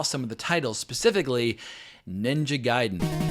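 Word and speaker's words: Ninja Gaiden: of the titles specifically ninja giden no ninja gayon as I pronounced it for years back when I was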